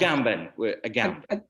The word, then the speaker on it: Agamben: I think that in a certain sense, like there's this chapter in, how do you say, is Agamben pronounced Agamben or Agamben? How do you pronounce it? Agamben. Agamben, okay.